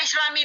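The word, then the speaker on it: الإسلامِ: Yang Islami, ayatnya apa? Man azlam mimman iftara 'ala Allahil kadhiba wa huwa yud'a ilal islami. Wa huwa yud'a ilal Islam. Kenapa dibacanya Islami? Wajib berbunyi i, wajib kasrah.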